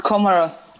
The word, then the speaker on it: Comoros: how do you pronounce is it comoros yeah it's comoros comoros welcome back as we